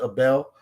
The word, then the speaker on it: Abel: It's spelled Abel, but it's pronounced Abel.